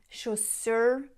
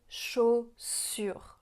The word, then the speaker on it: chaussures: Ce qu'elle pourrait améliorer, par exemple, c'est qu'elle dit chaussure au lieu de chaussure. Chaussure. Rappelez-vous que la lettre U, ça fait le son U.